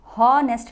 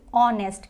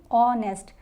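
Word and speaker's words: honest: start होने वाले शब्द जहां हा साइलेंट हो और जो उच्चारण है वह हमारा स्वर की तरह आए जैसे की यहां पर ऐसे साइलेंट है तो इसको ऑनेस्ट नहीं पढ़ेंगे होर्नेस्ट नहीं पढ़ेंगे इसको पढ़ेंगे ऑनेस्ट क्या पढ़ेंगे ऑनेस्ट और ऑनेस्ट इयररिंग्स होती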